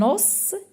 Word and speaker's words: os: Alors des ça veut dire on dit un os des. Alors on on ne prononce pas on ne prononce pas le s un os des OS.